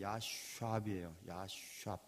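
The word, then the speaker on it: ישב: 히브리 말 S 발음이 신 발음이 있고 쉰 발음이 있거든요. 그런데 이 야샵은 쉰 발음을 써야 되는데 야샵이에요.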